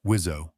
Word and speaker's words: WSO: You have a pilot in the front and a weapon systems officer, or WSO, pronounced Wizzo, in the back.